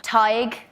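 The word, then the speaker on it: Tadhg: Tige.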